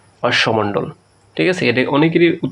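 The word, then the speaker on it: অশ্মমণ্ডল: এটা দেখো এটাকে কি বলা হয় এই যে অশ্বমণ্ডল ঠিক আছে এটা অনেকেরই উচ্চারণ করবে অশ্বম না এটার উচ্চারণ হচ্ছে অশ্বমণ্ডল তারপর দেখো প্রিয় শিক্ষার্থী একটা উদ্দীপক আছে এই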